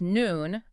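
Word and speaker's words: neun: Nine is noon. The note here says eu equals o y. Yep. Like a toy.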